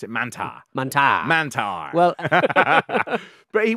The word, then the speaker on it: Mantaur: as well it's spelled mantor but they do pronounce it Manta Manta Manta well but he was known as